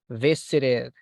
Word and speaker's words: visited: Just remember, this one is visited, porque termina en T.